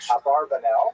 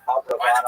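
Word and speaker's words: Abravanel: Many people pronounce his name Abarbanel, and that's because of the, it's much easier, as Stephen says, it's much easier to rhyme the song to the name of Abarbanel. Talking about a rock version of Abarbanel, but it's most likely pronounced Abrabano or Abrabano.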